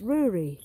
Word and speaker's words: Rory: where they make beer just say brewery without the b and it's rory it's not rory and it's not rudy it's so phonetically it would be r double o he's like yes